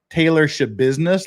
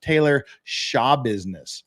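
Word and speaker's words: Taylor Schabusiness: Yeah, her name is apparently not Taylor Shabusiness like it says. Apparently, it's pronounced Taylor Shabusiness, like Shabusiness biatch. That's how she pronounces it herself.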